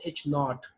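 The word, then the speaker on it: H₀: is no statistical difference null hypothesis is actually denoted by H and this pronounced H naught and null hypothesis means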